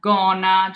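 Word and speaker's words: gonna: We have that G followed by an A, making it a hard G. And then we have gona, G followed by an O, makes it a hard G.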